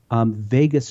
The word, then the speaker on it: vagus: And so this vagus nerve, right? Think of Las Vegas, except it's spelled differently.